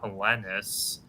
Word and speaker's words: Helenius: Yeah, it's Helenius.